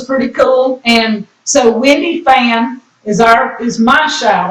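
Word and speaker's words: Phan: name is Wendy fan F uh p h an pronounced fan fan and Wendy has a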